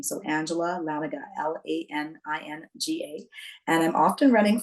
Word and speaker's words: Laninga: you, or Angela Laninga, but it's Laninga. That second N is silent.